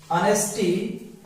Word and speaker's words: honesty: इसलिए इसका आएगा honesty is the best policy.